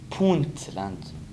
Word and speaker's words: Puntland: Quand tu dis PL, il faut surtout prononcer le N. Pointland.